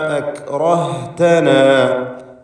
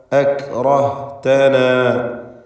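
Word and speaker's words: أَكْرَهْتَنَا: സുക്കൂനായി തന്നെ ഉച്ചരിക്കണം. എന്നാൽ അതിൽ ഹംസ് എന്ന സിഫത്തുണ്ടാവണം. ശ്വാസത്തിൻ്റെ ചലനം, അതാണ് ഹംസ് കൊണ്ട് ഉദ്ദേശിക്കുന്നത്. അക് അക് എന്ന് പറയുമ്പോൾ ശ്വാസം ചലിക്കുന്നു. അക്റഹ്തന, അക്റഹ്തന, ശേഷം ഹ വരുന്നു.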